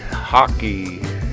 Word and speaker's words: hake: using my large Haake hockey cake nobody knows how it's really pronounced brush hockey houses what some have claimed I kind of auto instinctively wanna call it a hake because it's spelled H